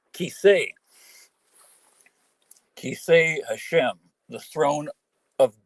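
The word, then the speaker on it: כסא: It should be Kisei.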